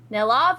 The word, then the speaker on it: Nellav: Uh, Nellav is spelled N E L L A V.